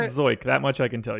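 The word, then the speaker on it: Zeuch: Yeah, I mean, extreme ground ball pitcher for Zook. But the strikeouts in here, there. it's actually pronounced Zoik. Sort of like, I don't know. Yeah, I was on Scooby-Doo. Baseball Reference, and it's Zoyk. Zoik.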